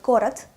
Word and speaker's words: город: So if you found these words where O is pronounced as A, you will have this list. Вокзал, лето, город, Россия, утро, хорошо, это.